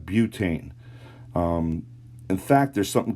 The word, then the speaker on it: butane: the two term butte it's not but we wouldn't have butt ain we would have butane um in fact there's